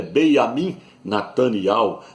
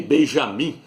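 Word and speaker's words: Binyamin: eterno Ministro de Israel o nome dele é Beam Nat não é nem Benjamim porque no hebraico não tem a letra J não é Benjamim é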